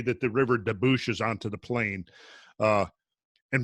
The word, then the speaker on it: debouche: I think debouche is probably correct. Debouche. Debouche. Yeah, the E is silent on that.